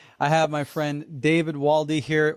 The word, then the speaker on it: Waldy: And today I have my friend David Waldy here. Wald is how you say your last name, right? That's correct. Waldo with a Y.